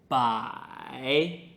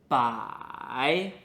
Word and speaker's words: 百: "bai2" Now fifth character is: "bai3" "bai3" Pronunciation is very similar , but it is third tone.